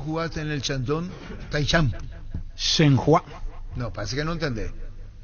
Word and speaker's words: Shenhua: Shenhua. Shanghái. Así se pronuncia.